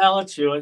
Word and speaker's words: Alachua: Yeah, Alachua. It's difficult names to pronounce when you're from New England, you know.